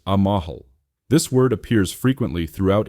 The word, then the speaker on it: amal: Our third key term is Amal, spelled Amal and pronounced Amahal.